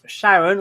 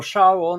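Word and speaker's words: Charon: terms of size so the biggest moon is called Sharon or shaon or Kon or Sheron or however you want to pronounce it I don't think there's an agreed pronunciation I call it Sharon so we'll stick with that because this is my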